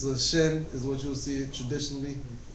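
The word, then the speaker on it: שׁ: either side because you one will be pronounced with a sh as in ship and the sin will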